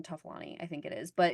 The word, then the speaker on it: Toffoloni: I'm sorry if I mispronounce her last name, Toffolani, I think it is, but is Nancy's Toffoloni, sister. I think. Toffoloni, I'm sorry.